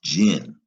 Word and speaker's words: imagining: Is that gin or gin? It's gin. That G, if it's followed by an I, is going to be a soft G.